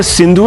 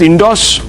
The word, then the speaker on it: Sindhu: these people as Hindus the ancient Greeks used to mispronounce the river Sindhu as indos when Alexander invaded the